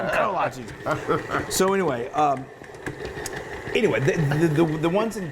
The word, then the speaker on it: kolache: And they're the largest Czechoslovakian community, they've kind of developed their own style of creating kolaches. We call them kolaches, we've been told that we say it wrong.